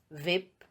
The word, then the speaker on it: whip: H is not pronounced when it comes after W. For example, Y, whip, wheel, etc.